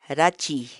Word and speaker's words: rachiy: de videos en la que te enseñamos a pronunciar algunas palabras en quechua. Así que nuestra palabra del día por hoy es Rachi, rachi, rachi, la palabra quechua.